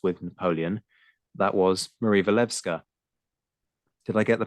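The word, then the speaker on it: Walewska: That was Marie Levka. Did I get the pronunciation right on the name there?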